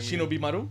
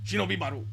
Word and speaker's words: Shinobi Maru: Shinobi Maru. All right. Shinobi Maru.